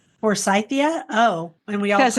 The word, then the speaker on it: Forsythia: And it is F is for And you said for Cythia.